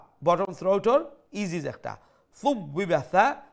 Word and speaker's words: ثُوِّبَ: Thub biba tha. Make sure you pronounce the tha with the softer tone.